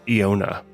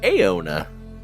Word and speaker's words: Eona: if you try to pronounce it like you are perhaps from northern Michigan and you say I own a nice truck over there you know